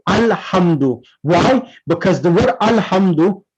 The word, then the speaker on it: Alhamdu: for example, in Surah Al-Hamd, we say Alhamdu. We don't say Alhamda. We don't say Alhamdi. We say Alhamdu.